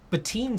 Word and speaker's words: Batten: Batin subs. Oh, Batten. Batten. It's right there. Batten subscribed for the second straight month with the note, it's pronounced Bat-in.